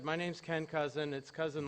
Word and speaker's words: Cousin IT: My company's Cousin IT, but my wife pronounces it Cousin It, like the Addams Family.